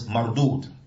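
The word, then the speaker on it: مردود: So marudud is spelled mim, ra. Dal, waw, dal. Naam. Marudud. And it's on the wazn of what? Maf'ul. Marudud, maf'ul. It's on the wazn of maf'ul. طيب. So it's mardud.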